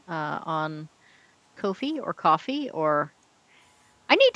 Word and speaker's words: Ko-fi: sent me $5 on Kofi or Coffee or I need to decide how that's pronounced. Except I'm pretty sure whatever I decide it'll be wrong. I reckon it's Ko-Fi, like sci-fi.